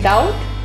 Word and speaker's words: doubt: In doubt, B is silent.